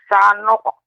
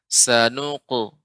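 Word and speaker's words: سَنُقْرِئُكَ: Sanuqri'uka fala tansa. Perhatikan Nek ketika membaca sanuqu ya, bukan sanuq. Sanuqri'uka. Sanuqri'uka.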